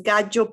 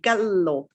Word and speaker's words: gallo: is gagio pogio gagina the double l is j in italian it's not it's the same as any other double consonant and what you say is is almost like you hesitate gallo pollo gallina now italians are very